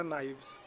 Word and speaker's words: knives: तो नाइफ का जो प्लूरल फॉर्म होगा वो होगा नाइव्स, KNIVES, नाइव्स। के क्या होता है, साइलेंट होता है, तो नाइफ का प्लूरल नाइव्स।